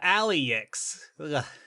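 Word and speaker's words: Alyx: That's Alex spelled A L Y. Oh, Aliex.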